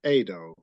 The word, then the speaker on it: Edo: Yeah, my name is pronounced Edo. Edo. Okay. Yeah. Edo. Yeah. That makes sense. Yeah. Well, most English speaking people say Edo.